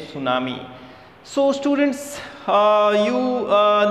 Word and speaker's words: tsunami: like a girl's name tsunami and the tea is silent here this letter t vanes name tsunami so students uh you uh know tsunami when